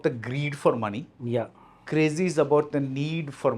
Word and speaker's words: Crazxy: हाँ, Crazy. This is the correct pronunciation.